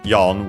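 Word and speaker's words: 四: use Chinese numerals but for the number four we use yon which is of uh strictly Japanese origin instead simply because of uh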